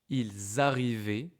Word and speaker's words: ils arrivaient: Ils arrivaient toujours en retard. Ils arrivaient toujours en retard. Donc le verbe arriver, A-I-E-N-T. Okay? Ils arrivaient. You can hear the link between ils et arriver.